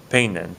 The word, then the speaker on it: peinen: It's peinen, say, or I'm sorry, peinen, peinen, peinen. The stress is over that E right here. Okay, that's where the stress on the word is.